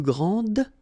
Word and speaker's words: grand: Okay, so phonetically what you can hear is that this first form here for the masculine, grand, so you don't pronounce the final D, will be exactly the